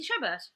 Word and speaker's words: Chabert: Lacey Chabert.